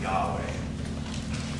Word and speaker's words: Yahweh: But if you were to pronounce it, it would probably be pronounced Yahweh.